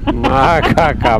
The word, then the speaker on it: Makarska: How you pronounce it, Gabby? Makarska.